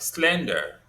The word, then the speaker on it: slender: Now, um, we can also consider most two syllable adjectives like slender. Okay. Slender is stressed on the first syllable.